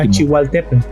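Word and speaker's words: Tlachihualtépetl: un poco la L, la pronunciación Yeah, al último. Tlachihualtepan.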